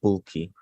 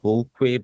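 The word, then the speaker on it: Vulqui: in the chat I'm I'm called bulky so I know they throw you pronounced it as full Queen but yeah okay don't worry about it yeah yeah v-u-l-q-u-i and I should say it's because it's spoken in Spanish got it you got it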